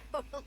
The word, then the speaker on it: Bonham: Bonham, but yes, it's Oh, Bonham, and you totally got it.